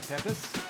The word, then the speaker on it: Pepes: That's the tuna peppers. How do you pronounce peppers?